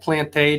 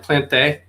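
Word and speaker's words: Plante: say say his name his last name is actually plant plantae just to tell you it it's jacques plant plant day all right but but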